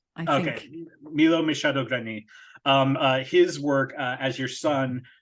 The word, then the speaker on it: Milo Machado Graner: not also mention I believe his name is Milo Machado Grainer. Is that how you pronounce his name? Milo Machado Graner, I think. Okay, Milo Machado Graner.